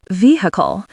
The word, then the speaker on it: vehicle: Vehicle stresses the first syllable, vehicle.